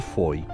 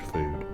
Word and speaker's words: Fowey: restaurant serving delicious home-cooked food. This is Fo. I think that's how you pronounce it. Foye is what we were saying until we were corrected.